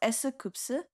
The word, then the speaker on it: S.Coups: So S.Coups, his name in Korea is it's pronounced S.Coups, and that's like four syllables, right?